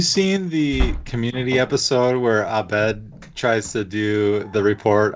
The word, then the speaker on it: Abed: Also, you said Abed.